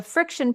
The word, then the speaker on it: Frixion: A friction pen is spelled Frixion, just so you know.